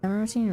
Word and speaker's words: Emeraldine: Emeraldine rhymes with Ovaltine.